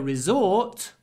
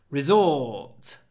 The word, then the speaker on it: resort: Brighton is a popular Resort on the south coast of England Resort it's a long or Resort but don't pronounce the r Resort two sounds Resort